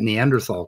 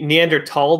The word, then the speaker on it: Neanderthal: So if you're doing it German, it would be Neanderthal, but spelled with a TH.